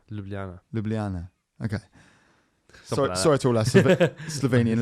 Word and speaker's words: Ljubljana: capital um i i can't pronounce that for um i'm going to i'm going to try giblance that's the capital of slavery ljubljana ljubljana okay sorry to last slovenian listeners um found